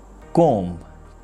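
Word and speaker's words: comb: is climb tom the correct pronunciation is tom com the correct pronunciation is calm thumb but the correct's word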